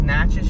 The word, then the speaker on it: Natchez: is okay this is natchez okay i'm not gonna lie and now that i've learned how to pronounce the name of that town it's really fun to say matches if i lived